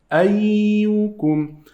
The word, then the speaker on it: أيكم: Here we have this ya, as we said, it has shadda, so we must pronounce it 2 times.